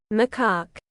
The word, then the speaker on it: macaque: How do I pronounce that? macaque That.